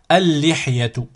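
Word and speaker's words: اللحية: Normalement, c'est al-li, mais on ne prononce pas le lam ici. Donc, ça va nous donner al-li directement. Al-lihyatu, la barbe.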